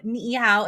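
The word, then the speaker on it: Niʻihau: sounds like a Chinese it sounds like saying hi in Chinese right I know niow it's ni I Au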